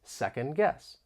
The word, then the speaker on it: second guess: you to know that the final D in second may get muted because of Aion this is when sounds or syllables get removed and this may occur with the t or d when they come between two consonants think about the phrases old car or next day you don't really hear the t or d nor do you hear it when I say second guess to second guess someone